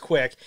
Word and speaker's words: QUIC: that real quick hahaha spelled differently but quick uh quic pronounced quick it's a it's a